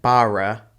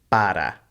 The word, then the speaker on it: para: so it's asuka and the same thing again with ere sounding like a d sound so this isn't para it's para agregamos un poco sounds